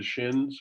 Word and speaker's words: Duchenne: i think and what your closet did you pronounce it did the shins yes the duchenne can you explain that i thought because i